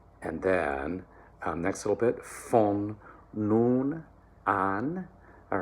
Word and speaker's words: von: All right, so that V becomes an F, unvoiced. Von nun an.